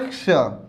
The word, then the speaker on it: क्ष: छत्री बोल देते हैं, तो छ नहीं बोलना है, इसको क्या बोलना है, क्ष। मतलब आधा क भी है और स भी है, तो दो व्यंजन से मिलकर बनता है ये, इसलिए इसका उच्चारण क्ष होना चाहिए।